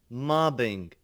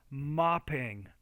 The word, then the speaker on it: mopping: mobile, mobbing, It's mopping, mopping. So you're not pronouncing that P there.